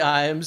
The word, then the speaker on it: Iams: next to me Iams I've never actually said your last name to you is that how you say it yeah like the dog food like pet food yeah sponsorship yeah exactly